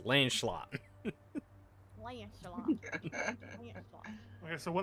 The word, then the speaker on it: Lancelot: It's 2 syllables. Lancelot.